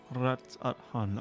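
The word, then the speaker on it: Radz-at-Han: A vast rock squats upon Favnir, and to its stony surface clings the city of Rads at Han. Rats at Han. I have been pronouncing it correctly.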